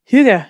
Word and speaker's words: hygge: Yeah, is that how you pronounce it? Hygge, yeah.